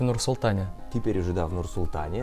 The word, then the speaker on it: Nur-Sultan: котором мы вонять с тобой были присутствовали и правильно говорить в нарсил таня теперь уже давно result они абсолютно верно и